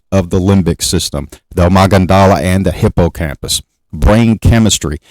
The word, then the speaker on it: amygdala: The word amygdala, it's not it's pronounced an O, amygdala.